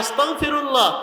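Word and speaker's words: أستغفر الله: মনে রাখতে হবে শব্দটা হলো গ দিয়া, বাংলা উচ্চারণ কি দিয়া? গ দিয়া, গ। আস্তাগফিরুল্লাহ আস্তাগফিরুল্লাহ। এখন কেউ যদি ক উচ্চারণ করে আস্তাগফিরুল্লাহ, এর অর্থ হবে আল্লাহ আপনারে অস্বীকার করতে চাই।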